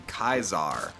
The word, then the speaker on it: Caesar: But I don't remember much of it now, but I think like C's were pronounced as like K's. So like Caesar was actually Kaisar.